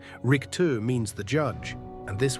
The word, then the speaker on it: Richter: Four, Richter, the judge. How you say it? Americans say Richter or Richter. Germans say Rick-two with that scraping chin the back of the throat.